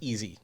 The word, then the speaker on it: EZ: argue it's e so according to an interview that I saw that he had online he pronounced it as easy so that's what we're